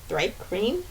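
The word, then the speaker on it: Thri-kreen: Hi, I play Charm, who is a Thripe Green, can never say that right, Ranger.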